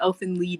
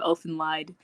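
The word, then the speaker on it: Elfen Lied: time and i also didn't know that elfin lied elfin lead the title was supposed to be in like german or something so it's pronounced elfin lead instead of elf and lied there those are all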